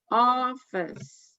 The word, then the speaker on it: office: One syllable in each word is stressed. Office.